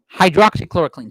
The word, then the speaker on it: hydroxychloroquine: How do you pronounce that, Valerie? Hydroxychloroquine.